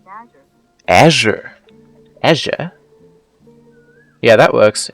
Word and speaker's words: Azure: That's pronounced Azure.